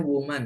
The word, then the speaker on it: woman: Kalau A itu bacanya woman ya, kalau E bacanya women.